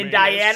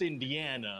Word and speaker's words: Indiana: Jones script for me indana sure I do well it's pronounced Indiana oh that's right I